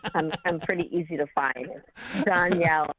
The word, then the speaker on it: Dhonielle: my name so i'm pretty easy to find danielle it's t-h-o-n-i-e-l-o-e it's weird my parents are strange